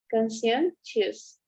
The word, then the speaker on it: conscientious: Conscientious, right? It's like an SH.